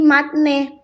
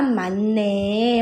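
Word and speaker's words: 맞네: ya ee mendengungkan bunyi maka ee bunyi yang tadinya dibaca T, Guys, dia berubah menjadi N. Buset. Buset, ya. Eh, maka final pelafalannya adalah mane.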